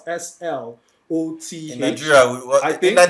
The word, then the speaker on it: Slot: Slots, Simple. actually. So, but Chappie was the one who told me for the first time. His name is actually pronounced Slot.